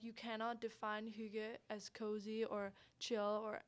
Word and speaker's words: hygge: I know you guys mentioned, I'm probably mispronounce it. It's the HYGGE.